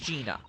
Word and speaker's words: Gina: the answer isn't it it's Jenny isn't that exciting Jenny so it is pronounced Gina oh what a surprise